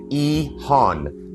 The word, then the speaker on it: EHON: Quick note when I say Ehan I'm pronouncing it Ehan short for expanding housing options in neighborhoods.